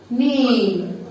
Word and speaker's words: name: واتس يور واتس يور نيم نيم والاي في الاخر ما بننطقهاش الاي في الاخر الكلمه ما بننطقهاش هي موجوده ليه هي موجوده عشان تساعد حرف الاي ان هو يقول اسمه يبقى نيم اي نيم